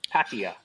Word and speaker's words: Pattaya: So it's Pattaya. Pattaya. It's a soft A at the beginning.